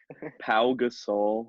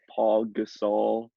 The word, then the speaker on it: Pau Gasol: Pau Gasol, not Paul Gasol.